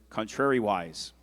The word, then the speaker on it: contrariwise: Declan, your word is contrariwise. Repeat that, please. Contrariwise. It could also be pronounced contrariwise.